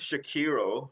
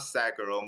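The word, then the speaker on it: Sekiro: talking about bloodborne so it's pronunciation I believe is shakiro Shadows died twice it's not sakuro most people say sakuro but I think it's it's a Japanese game so it's got to be shakiro in my opinions like they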